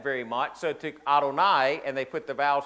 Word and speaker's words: Adonai: It's four Hebrew consonants. It's yode vi and and sometimes now we as English-speaking people we will say Yahweh but if if you were Hebrew and you were reading the text you would not pronounce that name. So when you got to that name you would say Adonai which is a a